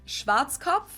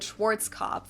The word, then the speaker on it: Schwarzkopf: In German, we pronounce it Schwarzkopf. Okay, that's like, okay, so my way of saying it is definitely English. Because it what she said. Literally means black head. Schwarzkopf. English native speakers usually pronounce it Schwarzkopf or Schwarzkopf or something along those.